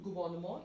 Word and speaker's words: gouvernement: So, du gouvernement is the correct option here. Gouvernement. Slightly different pronunciation and the spelling as well when compared to English.